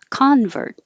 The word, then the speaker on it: convert: noun and a verb if the stress is on the first syllable it's convert so it's a person who changes their belief convert i'm a convert if it's the verb convert it's the action convert and the noun conversion